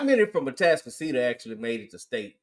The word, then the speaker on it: Atascocita: And here's the thing: I would love for them to beat Atascocita.